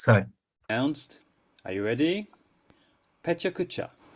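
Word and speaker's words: pecha kucha: Pechakucha, or Pechakucha. All of the syllables, and there are 4 of them, have roughly equal length.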